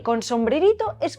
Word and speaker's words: ĝi: the ĝ is like the sound of the j in the word jeep, or that of gi